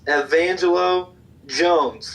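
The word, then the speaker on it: Evangelo Jones: set the record straight I apologize for mispronouncing it it's Evangel o Jones all right have angel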